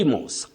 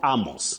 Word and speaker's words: Amos: Amos, not Amos.